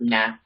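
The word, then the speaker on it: nae: I never really studied it, but I do know that the word for not is like nah.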